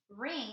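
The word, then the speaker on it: wring: ring the wet sheets ring has a w that's silent in the beginning and this changes the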